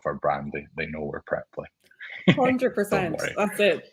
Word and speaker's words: Preply: I may Okay, have that makes me feel a mispronounced it little better. myself the first time around that. Yeah, no, don't worry. It's Preply, but yeah, it happens.